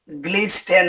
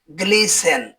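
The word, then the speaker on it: glisten: জি এল আই এস টিই এন জি এল আই এস টিই এন এর উচ্চারণ গ্লিসটেন হবে না। এর উচ্চারণ হবে গ্লিসেন।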